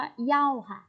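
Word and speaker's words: 要: กัน นะ คะ อัน นี้ ออก เสียง ว่า เหย้า เหย้า ๆ แปล ว่า อย่า หรือ ต้องการ นะ คะ อย่า หรือ ต้องการ คะ เหย้า โอเค ไป ค่า เสีย อีก ก็ เข้า นี้ วิธี การ ใช้ ก็ คือ เหย้า นะ คะ คำ นี้ ตาม ด้วย กริยา ค่ะ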